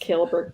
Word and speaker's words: Kohlberg: spelled that way no it's spelled kohlberg and I don't know why it's pronounced killberg but it is my